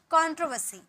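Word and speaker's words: controversy: यूज किया गया है इसलिए यहां आर साइलेंट है और यहां का वर्ड का उच्चारण करेंगे कंट्रोवर्सी कंट्रोवर्सी ओके पीड़ा जनक एगोनाइजिंग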